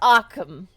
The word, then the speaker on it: Occam: My name is Occam. Occam. Occam, yeah. I like it. That's cute. Like Occam's razor.